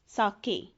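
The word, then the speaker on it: sake: इट्स a Japanese drink, साके, नॉट सेक जैसे हम बोलते हैं फेक सेक, इट्स a different one. ई के ऊपर साइन सा बना हुआ है तो हम इसकी प्रोनाउंसिएशन मीन्स बिल्कुल डिफरेंट है, हम उसी लैंग्वेज में बोलेंगे, तो ये है साके।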